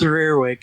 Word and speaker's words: Reirwg: It's Reirwg. It's a weird pronunciation. Reirwg. Yeah. Reirwg. English. Yeah. Okay, listen. My defense: English is not my first language, so It's basically just, it's not any language.